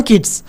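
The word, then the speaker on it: Keats: देखो John किड्स है actual में यहां पे टी है जॉन किड्स है लेकिन यहां पर उच्चारण आ रहा है किड्स जैसा जॉन किड्स यानी किड्स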